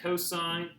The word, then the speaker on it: cos: full word etc okay same thing here um cosine and then tangent so just say the full pronunciation of it i still hear people saying costs and tan here my my logic behind it